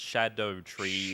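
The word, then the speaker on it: Scadutree: There's a different kind of like scaling system based on branches of Skadu tree fragments, but I'm told it's pronounced Shadow Tree.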